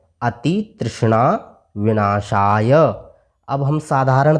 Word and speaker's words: विनाशाय: आप पढ़ेंगे अति तृष्णा विनाशाय विनाशय य में जो अ मिला हुआ है उसका भी हमें उच्चारण करना है विनाशाय ने पढ़कर के